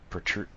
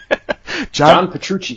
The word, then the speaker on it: Petrucci: can't go wrong with John produce protrude sorry can't say his name John you still can't say gentlemen would you mind saying it for me John Petrucci Petrucci thank you I know I know